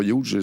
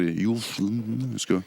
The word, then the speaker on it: Hughes: Je te le prononce mal, c'est pas Hughes, c'est Hughes, en anglais.